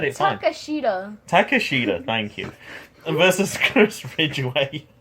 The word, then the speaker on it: Takeshita: Takeshita, thank you.